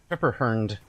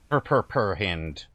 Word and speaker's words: Pepperhand: It's Pepperhand, not Purperhand, but whatever.